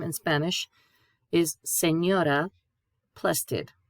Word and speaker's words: señor: So, señor, we don't say senor, señor. Not compañero, compañero.